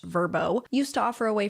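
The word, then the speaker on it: Vrbo: Airbnb and what's apparently pronounced verbbo used to offer a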